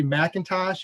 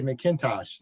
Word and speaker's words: McIntosh: I would say Macintosh. You would say McIntosh.